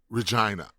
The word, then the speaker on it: Regina: And Regina is the capital of Saskatchewan, one of the provinces there, and it vaguely rhymes with vagina.